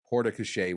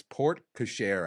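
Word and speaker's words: porte-cochère: pronounced, Sean will brutalize Port-a-Cachere when he says it. So I think I looked this up. It's Port-Cachere, I think is how you're supposed to say it in English.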